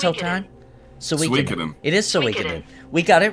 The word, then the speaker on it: Suikoden: It is Suikoden.